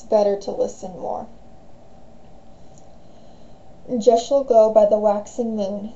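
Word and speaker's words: deosil: pronunciations of it but it's a Welsh word and that's how the Welsh pronounce that spelling um gesel means clockwise and that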